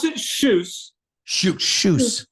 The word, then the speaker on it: Kjus: this Luke pronounce it shes sh shes just like shoes but with a SS at the end but it's pronounced KJ